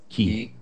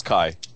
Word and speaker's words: Ki: Yes, it is, because that's how, if you read the Japanese, that's how it's pronounced. But it's K-I. Shouldn't it be K-I? No. K-A-I for Kai? No, it's pronounced Kai.